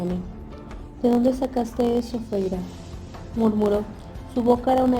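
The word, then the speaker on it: Feyre: Fijó los ojos en mí y agregó, por favor, Feira. Dijo las 2 sílabas de mi nombre, Feira, en el gemido más horrendo que yo hubiera tenido que tolerar jamás.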